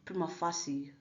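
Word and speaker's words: prima facie: fake means now wow of Prima fasi someone have it pronounced but we are all subject to our own freedoms of expression and I choose to refer to it as but I prefer Prima faki because I am entitled to my choice of words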